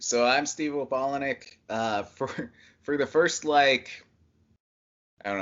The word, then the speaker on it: Opalenik: Steve Opalenik. That's how you Yeah, pronounce it, isn't perfect.